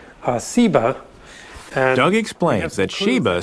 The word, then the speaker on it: Seba: related that has just the different s sound Seba and ugly explains that